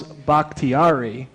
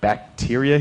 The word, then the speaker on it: Bakhtiari: Apparently, nobody knew how to pronounce Bakhtiari, and it sounded like bacteria.